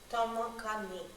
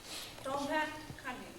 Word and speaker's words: Tomo-Kahni: Tomo-Kahni. You kind of roll your tongue when you get to the O. Tomo-Kahni.